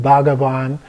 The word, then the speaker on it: bhagavad: a for example in bhagavad so it's a BH is a soft B if you will but the main thing is don't try to pronounce the H just going to skip over that and then another one